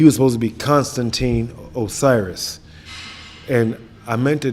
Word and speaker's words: Osiris: It's Osiris, but she spelled it U-S, but it is pronounced Osiris.